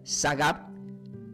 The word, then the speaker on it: sagab: Significaba, se pronuncia sagab, puesto en lo alto, fuera del alcance del enemigo.